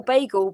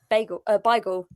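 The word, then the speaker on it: beigel: You say all bagel because it's Americanized. The Americanization is bagel, and if you actually spelled it correctly, you'd spell it with an I, BAI. Beagle. Sorry, I'm not having this. I was raised by London Jews. It's Beagle.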